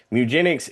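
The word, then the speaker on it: Mewgenics: say it properly and it was mugenics as in meow and you're breeding cats, which show me everything and tell me the formats.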